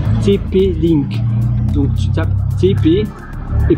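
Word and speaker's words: TP-Link: TP Link. Donc tu tapes TP et puis link L I NK. Je disais tipi parce que c'est en anglais la prononciation.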